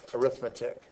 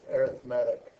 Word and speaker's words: arithmetic: today now as a noun uh this is arithmetic as an adjective it's pronounced arithmetic So today we're going to talk about an